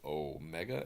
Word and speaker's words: Omega: pronounce it regularly and we're gonna pronounce the O mega as an O and the Omni kron has an O so now we've we've